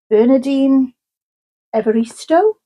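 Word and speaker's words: Bernardine Evaristo: And this is Girl Women Other by Bernardine Everisto. That's how you pronounce it.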